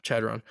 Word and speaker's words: Chadron: Davis cpol Troy and Chardon State Shad I'm gonna help you out on that yeah Chadron convincingly chadon sorry my D2 pronunciation that was such a